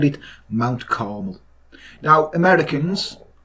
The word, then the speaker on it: Carmel: and called it Mount Carmel. Now, Americans, it's spelled C-A-R-M-E-L, Carmel, right? Not caramel, which you call Carmel, because you can't speak properly.